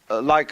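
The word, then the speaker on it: 理: When we speak of order, we usually tend to think of something symmetrical, of something like a library, you know, where all the shelves are rectangular.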